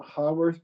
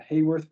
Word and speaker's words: Haworth: will draw it is a hearth projection or a Haworth projection depending on your on your pronunciation middle leave the pro